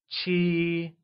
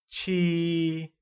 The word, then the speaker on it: 七: 7 becomes 七, and is said with a high level tone. Let's try and say 七.